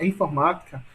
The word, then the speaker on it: informática: Observem que na palavra informática, né, a sílaba tônica é ma, sendo que K é a última, Ti é a penúltima e Ma é a antepenúltima.